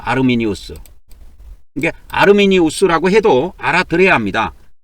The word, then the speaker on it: 아르미니우스: 그래서이 칼빈, 알미니안이 알미니안 알미니안을 그이 라틴식으로 하면은 아르미니오스라 그래요. 아르미니우스.